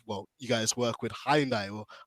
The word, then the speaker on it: Hyundai: now I know, well, you guys work with Hyundai or Hyundai as the pronunciation goes.